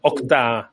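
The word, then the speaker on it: Okta: a Juan Pérez Muñoz que es responsable de octa a ver si lo voy a decir bien octa eh Juan qué tal Muy buenas tardes muy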